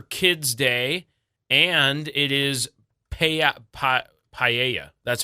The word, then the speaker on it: paella: It is Care for Kids Day, and it is Paella.